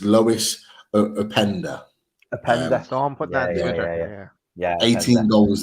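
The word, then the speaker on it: Loïs Openda: a striker and um uh I want to pronounce his name right so um just bear with me it's Lois upender a panda yeah 18 goals this season um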